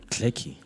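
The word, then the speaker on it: Galecki: I want to pronounce J A L E C K I Clicky. Johnny Clicky.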